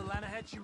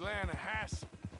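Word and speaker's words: Lannahechee: The other day, I rode down to the Lanahatchee River. I caught some beautiful steelhead trout. You mean the Lanahassee River? No. The Lanahatchee. It runs right near here. Yeah, but it's pronounced Lanahassee.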